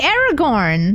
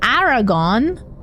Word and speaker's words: Aragorn: I say Aragorn, not Aragon.